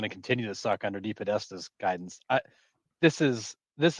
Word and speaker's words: DePodesta: Paul de Tab Deatesta. Is that how you say it? Deep Podesta. Deep Podesta. That's exactly what I said.